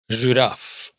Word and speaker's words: жираф: Podríamos deducir que si estas sílabas están en posición átona, también deben neutralizarse. Y pues sí, es una deducción correctísima. Жираф, jirafa. Жена, esposa. Ж, suenan exactamente igual.